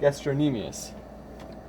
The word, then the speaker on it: gastrocnemius: So let me get the pronunciation right. Gastrocnemius.